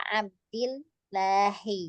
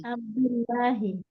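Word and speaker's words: عَبْدِ اللهِ: Nah, ini kalau dia idofah ya, Bu ya, cara bacanya adalah nih kasrah berarti ya. Abdillahi. Abdillahi.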